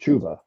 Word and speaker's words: Chuba: That's kind of it is technically pronounced Chuba, but Chuba sounds better.